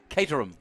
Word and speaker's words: Caterham: Caterham. Cater 'em.